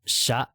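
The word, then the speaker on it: しゃ: This one, rather than shya, when you type it, you want it to do this, but it's pronounced sha.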